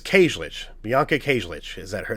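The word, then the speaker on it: Kajlich: So Bianca Kajic plays Sarah Moyer, the new girl or whatever, new final girl. I don't think I pronounced her name right. Let me see if that's true here. So it's Llic.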